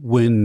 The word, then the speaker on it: Nguyen: It's a Vietnamese name. Nguyen. Win is the closest, yeah.